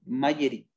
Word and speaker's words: Magerit: Por ejemplo, en España, el gobierno de España tiene una metodología que se llama Magerit. Se escribe con G, Magerit, M-A-G-E-R-I-T, Magerit, que es para gestión de riesgos del Estado.